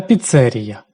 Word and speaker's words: піцерія: кави паста, піца та піцЕрія саме так наголошують це слово В країні їх більше 40 тисяч, і це лише офіційно зареєстрованих.